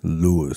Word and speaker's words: Luis: Yeah, don't say my name in Spanish. That's right, Luis. Even though it's spelled Luis. Even though he spells it L-U-I-S.